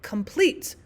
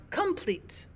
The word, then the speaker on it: complete: However, we usually would say the word complete, not complete.